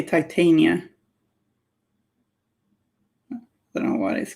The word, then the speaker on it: Titania: You pronounce it like I do for Shakespearean stuffs. Okay. Cool. I know someone, I think maybe by accident, pronounced it Tatiana.